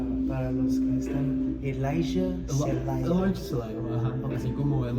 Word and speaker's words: Celayo: ¿Cómo pronuncias tu nombre para los que están? Elijah Celayo. Elijah Celayo, ajá. Así como tipo Elijah Wood es Elijah Celayo. Celayo.